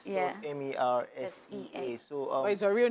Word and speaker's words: MERSEA: And then I just changed the spelling to MERSEA, MERSEA. Like the sea. Though vocabulary, the pronunciation is meant to be MERSEA, but I said I still want that pronunciation, MERSEA.